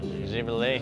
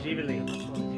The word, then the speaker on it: Živjeli: Živjeli. Živjeli.